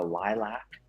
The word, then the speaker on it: lilac: Lilax, like, the flower, the lilac. Lilac. Okay, Right. so It's it should be LIELAX instead of LA. It's lilac.